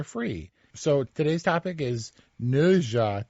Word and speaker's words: Ne Zha: Do you know about NeZha 2? How do you pronounce it? NeZha, as as evidenced in the trailers.